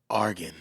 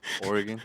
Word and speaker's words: Oregon: hold that right there Argan but I said it wrong Oregon everybody says it wrong unless you're from Oregon so I'm not mad